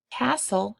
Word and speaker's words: castle: Castle has a silent T in the middle.